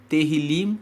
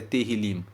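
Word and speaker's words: Tehilim: são um livro que no hebraico se chama terim teril se escreve te e h i l i m terril significa louvores os salmos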